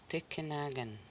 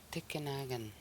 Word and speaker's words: tikinagan: Tikinagan. Tikinagan. So here there is 4 syllables. Ti, ki, na, gan. Tikinagan.